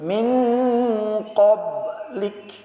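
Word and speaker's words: مِن قَبْلِكَ: Karena qaf itu sifatnya tebal. Jadi kalau kita ketemu dengan yang model begini, ditebelin. Min qablik.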